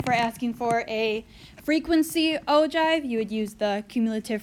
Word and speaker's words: ogive: is called this is called an ogive it's pronounced ogive not ogive it's a chive and this is another line